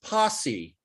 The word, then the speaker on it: posse: hold on hold on this word is pronounced posse posse posse means a group of